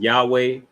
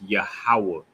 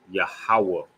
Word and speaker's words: Yahawah: name all right yahawah it's not Yahweh it's not Yehuda it's not yes it's not none of that it's not uh ye whatever they call it I know they got a whole bunch of mispronunciations for the most High's name but his name is yahawah yahawah all right then behold